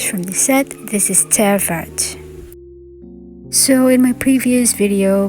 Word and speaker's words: Terre Verte: keep calling this as Terre Verte, but it seems the correct, or at least the French pronunciation for this color name is Terre Verte.